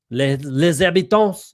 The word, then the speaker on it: Les Habitants: Les habitants, it's actually LES, the habitants. Les habitants is how you would say so like the Montreal Canadiens.